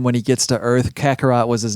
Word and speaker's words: Kakarot: But Dragon Ball Z, how do I pronounce that? Kakarot.